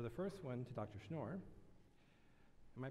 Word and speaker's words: Schnoor: in response so the first one to Dr schnoor am I pronouncing your name right yes okay how do